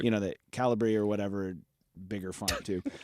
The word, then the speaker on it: Calibri: It's Calibri.